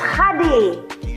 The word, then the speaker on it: Hadi: No, it's not Katie. Why would you ever call me Katie? How do you say it? It's Hadi. Like, out of everybody, you're gonna call me Katie?